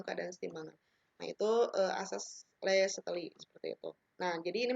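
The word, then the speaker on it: Le Chatelier: Le-Chatelier ya dibacanya.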